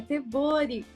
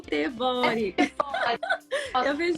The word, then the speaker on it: tebori: para as meninas também a pronúncia do seu boi é tebori não ter Boy muitas pessoas falarem no Brasil não se sinta mal e super Olha gente é uma palavra japonesa que significa e com